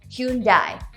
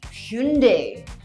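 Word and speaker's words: Hyundai: I think this is commonly pronounced as hyoon-die, but it should be Hyoon-dey.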